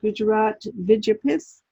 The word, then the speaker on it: Gujarat Vidyapith: And this is the Gujarat Vidyapith University.